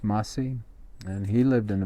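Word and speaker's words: Massai: afterwards you know masi in history they call him Masai but his name is pronounced MSI and he lived in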